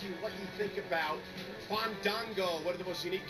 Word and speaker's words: Fandango: You need to feel it. Breathe the A's in. Let it flow through your body.